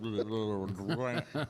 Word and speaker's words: Durant: Is it Durant or Durant? It's just kind of one syllable, kind of all Durant.